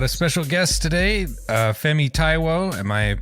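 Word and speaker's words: Fẹ́mi Táíwò: uh we've got a special guest today uh femi taiwo am I pronouncing that correctly yep um who is an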